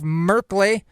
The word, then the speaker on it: Merkley: So the measure, sponsored by Senator Jeff Merkley, which rhymes with Berkeley, passed in the Senate Appropriations Committee on a voice vote.